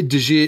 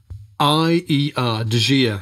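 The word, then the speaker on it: De Gier: I always say Dajir, it's spelled D-E. Space, G-I-E-R, Dajir.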